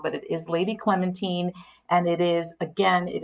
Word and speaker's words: Clementine: lady clementine yes i know everyone thinks it's pronounced wrong but it is lady clementine and it is again it is marie benedict